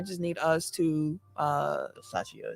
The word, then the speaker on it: Versace: need us to uh versace is how you pronounce it say it again versace okay sound like yachtia sound like versace that's gonna help me